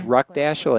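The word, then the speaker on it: Ruckdaschel: Yeah, believe me, I've heard everything, but it's phonetically just like it looks.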